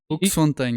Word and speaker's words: Hoeksfont: Hooks Fontaine. Is that Am I saying it right? Hook Fontine. Yeah. Okay.